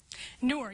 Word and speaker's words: Noor: I'm not totally sure how to pronounce the next one, but I think it's Noor. Noor, yes, that's by Nadia Korafor, and that may be a familiar name to folks.